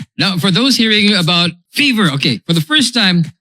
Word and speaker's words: FEV3R: How do we pronounce this? Is it fever or fever?